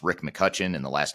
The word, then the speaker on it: McCutcheon: version uh it's Rick McCutchen and the last name is spelled MCC u t c h e o n so there's an e in there that's silent but it's McCutchen but with an e